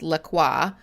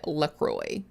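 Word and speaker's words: LaCroix: Um the funny thing is that Lacroy, like the actual French pronunciation of those words is Laqua. Uh except that the company owner has openly said that they do not want it pronounced that way. That like they pronounce it Lacroy.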